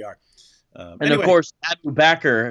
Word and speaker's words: Bakr: um and of course backer if you pronounce it that right way rhymes perfectly with cracker rhymes abu bakr rhymes